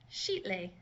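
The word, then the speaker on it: Xitle: purple the first one that X ITL e would be pronounced sheet Li XI XI and the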